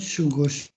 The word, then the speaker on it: 過ごす: Kemudian ini dibacanya sugosu, 過ごす。